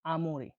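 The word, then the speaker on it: amore: বাংলা উচ্চারণে কি হয়? আমরে।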